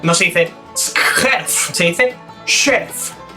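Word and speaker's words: skjerf: bufanda en noruego no se dicef se dice sherf y luego tenemos la combinación tj que se pronuncia de igual manera que la combinación kaj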